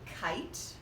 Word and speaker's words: kite: So we'll mark it with a macron, and this E is going to be silent, and we show that by crossing it out. So this would be kite, and we have a long I and a silent E.